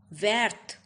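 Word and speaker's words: verte: Green is vert, the masculine form, and feminine form will be vert. Now T will be pronounced as there is an E in the end in the feminine form.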